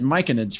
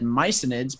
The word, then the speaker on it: myconid: it micenades or myconids i said micanids first time but then my dm said mycinids because mycelium and i'm like oh you're definitely right it has to be